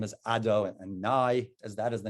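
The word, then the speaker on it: Adonai: we we don't even pronounce that name we pronounce the name as ado and nai as that is the name that we use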